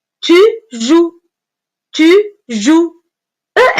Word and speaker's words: joues: encore une fois attention les deux lettres cette fois-ci E et S avec lesquelles le verbe jouer se termine sont muettes muettes c'est-à-dire en les voix mais on ne les prononce pas E et S tu